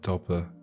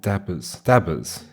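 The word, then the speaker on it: dauber: Dobber. Well, dabbers.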